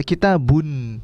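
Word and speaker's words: كِتَابٌ: Secara penulisan tidak ada nunnya. Secara bacaan itu kita baca kitabun, ya kan?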